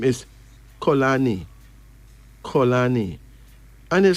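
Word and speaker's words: Xolani: some M names the first me name is colani colani and it spell weird like x o l a n i could you imagine x o l a n i and it's pronounced colani it is from Thea of South Africa this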